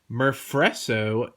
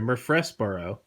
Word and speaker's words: Murfreesboro: called part Leiter and Murph réseau Tennessee I think I'm saying no I'm sorry Murfreesboro that is one of the hardest things I have ever seen to pronounce Murfreesboro Tennessee USA so